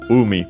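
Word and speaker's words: 海: The strictly Japanese reading is Umi, accent on the first syllable, sea, and also ocean waters, but yeah, the fundamental meaning sea.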